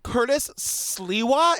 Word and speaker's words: Curtis Sliwa: many questions for Skye Borgman about this guy, Curtis Sliwa, is that how you say his name?